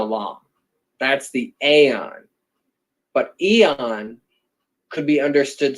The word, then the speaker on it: Aeon: so accessible is the aeon it's spelt a-e-o-n but it's the same as the word eon e o n and